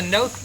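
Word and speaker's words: Knoth: This is the Noth property. How do you spell that? This is that's with a K, K-N-O-T-H.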